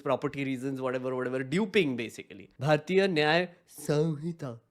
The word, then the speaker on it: Bharatiya Nyaya Samhita: Bharatiya Nyaya Samhita. That's how you say it. Chat. Whenever you say the law's name, it is Bharatiya Nyaya Samhita. Samhita.